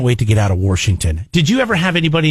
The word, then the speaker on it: Washington: to get out of washington did you ever have anybody in your family pronouncing washington my dad i don't know what that is there's no r there's no oh it's washington why did they say